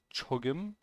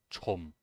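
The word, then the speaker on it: 조금: salt salt salt salt when pronounced quickly chogem often becomes chomp chomp okay this is an interesting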